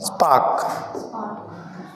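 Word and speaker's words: spark: फिर आगे चलते हैं, स्पार्क, आर साइलेंट है, आर साइलेंट है, साफ साफ दिख रहा, तो इसमें आंसर क्या आ जाएगा, स्पार्क आ जाएगा, ठीक है ना।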